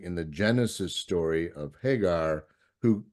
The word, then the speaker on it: Hagar: sense of grounding in the Genesis story of Hagar, who names God the God who sees. Did I say that correctly, Hagar?